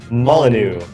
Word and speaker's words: Molyneux: Molyneux.